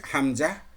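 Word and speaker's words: همزة: পরবর্তী আমাদের একটা লেটার রয়েছে হামজা, হলকের বা কন্ট্রোলের শুরু থেকে, যে হামজা, হা, হাটা পড়লাম আমরা একই মাখরাজ যেটার। এই হামজাটাও কোথা থেকে? হলকের কন্ট্রোলারের শুরু থেকে, হামজা, হামজা, হামজা উচ্চারণিত হয়।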